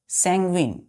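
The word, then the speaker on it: sanguine: एस ए एन जी यू आई एन ई संग्विन संग्विन संग संग्विन क्या पढ़ते हैं बच्चों संग संग सैगुइन संग्विन संग्विन प्रोनाउंस कैसे करते हैं संग्विन देखिए इसमें स्पेलिंग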